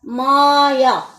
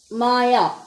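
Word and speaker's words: Maja: checked it the pronunciation it's a German name and it is called as Maya Maya okay when you are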